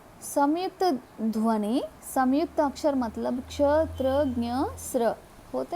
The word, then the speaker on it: क्ष: क्ष, क प्लस श, क्ष, क्ष। क्ष में का साक्षीभूत होता है, शा का भी ध्वनि हमको सुनने को मिलता है।